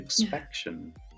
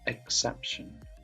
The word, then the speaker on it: exception: I think you said yeah. expection, but it was exception. So Oh yeah, expection isn't a word. exception. Yeah, exception. Just misplaced the P, but yeah.